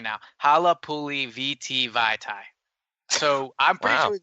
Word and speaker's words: Vaitai: And so I looked it up, and I'm looking at the pronunciation right now, Halapuli VT Vaitai.